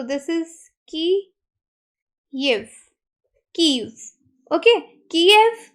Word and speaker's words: Kyiv: पहले उसको के ये स्पेलिंग यूज़ किए जाते थे कीएव, लेकिन अब इंस्टेड इसको कीएव बोलने के बजाय कहा जा रहा है इसको कीव प्रोनाउंस किया जाए।